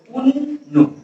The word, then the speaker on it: অন্ন: যেমন অন্ন এর সঠিক উচ্চারণ হলো উন্নু।